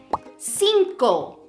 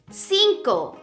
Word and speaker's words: cinco: look at this example the number five Cinco Cinco can you spot the soft C and also the hard C Cinco Cinco la letra the letter